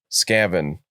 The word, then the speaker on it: Skaven: you're just wrong because Sebastian would argue that it's pronounced scaven like scavenger scavenger yeah oh that makes